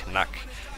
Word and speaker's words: Knack: This guy's called Knack, or I know he's German, so if you want to pronounce it in German, it's actually Knack.